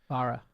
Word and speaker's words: Barra: yes, this is Cadillac, and Mary Barra, is that how we pronounce the chairman of GM? Barra.